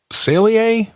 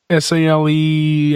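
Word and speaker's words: Saleae: out there called um I think it's Salier s a l e a I think you pronounce it sale.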